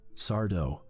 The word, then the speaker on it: Sardo: Last season, Tucker surprised me with a sudden appearance from Sardo. No mister accent on the dough.